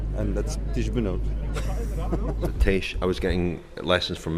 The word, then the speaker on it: Tiesj: Tiesj, I was getting lessons from Maxime in pronunciation of your name. It's Tiesj. Tiesj, yes.